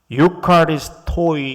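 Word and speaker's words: εὐχάριστοι: 여기 감사하는 자가 되라 할 때 그 감사하는 자, 요 단어가 그리스어로는 유카리스토이 이렇게 발음합니다.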